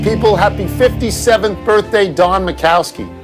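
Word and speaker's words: Majkowski: happy 57th birthday Don macowski what a great nickname the magic man because of how his name is spelled m ajk macowski was the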